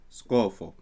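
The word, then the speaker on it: ܙܩܵܦܵܐ: And going back here, we have skapa, skapa, skapa, which is written or they would pronounce scofo, but I would pronounce this skapa just as the one above.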